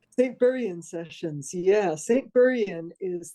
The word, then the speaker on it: St Buryan: St Buryan Sessions.